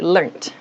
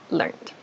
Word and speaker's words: learnt: However, for British English speakers, and I think for Australian English speakers also, they say learnt, learnt. So both are correct, but for you, please